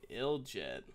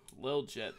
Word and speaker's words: liljet: around the door and ill jet lil jet sorry I've been pronouncing that wrong all day I think does get